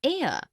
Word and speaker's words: heir: an inkpad, also an heir, an honest, an hour. Because the words heir, honest and hour begin with a vowel sound, as the initial consonant H is not pronounced.